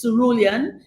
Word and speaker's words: cerulean: So when people ask me why, they have all kinds of pronunciations of it. And I say it is cerulean.